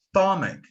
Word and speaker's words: stomach: It's not either. It's stomach. Stomach.